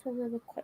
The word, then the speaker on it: soliloquizing: And she's saying her thoughts out loud and almost soliloquizing. Did I pronounce it soliloquizing? Yes. Yeah, soliloquizing. Yes, I did.